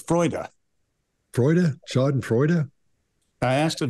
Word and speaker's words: Freude: Freud. Yeah. No, it's Freude.